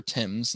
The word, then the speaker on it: Thames: the River Thames and yes that's pronounced the River Thames not River Thames and completes one revolution